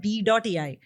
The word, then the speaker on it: B.ai: But this is a new product called B.ai, which is pronounced as Bai.